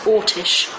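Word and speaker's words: Orsic: A lot of people spell it Orick. O R S I C. I don't believe it was that. I believe it was Ortish.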